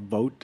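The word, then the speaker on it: Voat: on Reddit recently this called Vote or rhymes with goat yeah vote is popular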